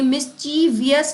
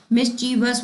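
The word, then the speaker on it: mischievous: तो ये मिसचीवियस नहीं होता है। क्या होता है ये? मिसचीवस होता है।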